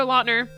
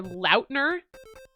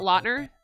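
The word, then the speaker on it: Lautner: Um but you know, right under that it says Taylor LNER. But and also like he said recently that everybody's been saying his name wrong like his whole life. So it's actually Taylor Lner, not Lner.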